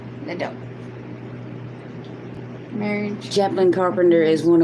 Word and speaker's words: LeDoux: Capital L, little E, capital D, O-U-X, spells Liddell.